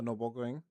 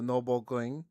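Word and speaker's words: Nürburgring: The Noring. The Noing. The noble. No. Noing. Okay. Yeah. Yeah. Try pronouncing the Nurburg Ring in German. It's the noring.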